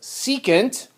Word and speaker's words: secant: the next one is abbreviated s that is pronounced secant and that is defined as the flip of